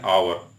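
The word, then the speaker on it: hour: एन आवर, एच से, एच तो consonant है, एच से शुरुआत है, लेकिन आ का उच्चारण हो रहा था, एन आवर।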